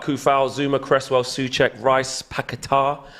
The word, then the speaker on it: Paquetá: West Ham line up as this: Fabianski, Agard, Kufal, Zuma, Cresswell, Souček, Rice, Paquetá. I believe is the correct way to pronounce that. I was corrected one time.